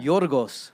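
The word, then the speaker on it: Γιώργος: Yorgos.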